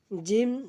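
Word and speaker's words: جيم: জিহ্বার আগা সামনের উপরে দুই দাঁতের আগার সঙ্গে লাগাইয়া সুন্দরভাবে উচ্চারণ করব সা। এরপর জিম। জিম।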